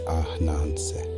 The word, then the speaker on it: Ananse: In the Akan tongue, the everyday word for spider is often written as Ananse, and we will say it softly as Ananse.